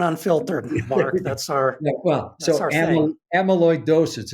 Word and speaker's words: Amyloidosis: Amyloidosis. It's very difficult to pronounce. So it's Amy. It's Amy.